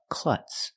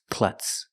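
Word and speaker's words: klutz: for one she's a clutz pronunciation cl cl the U is short it makes a sound uh like cup and up CL the Z is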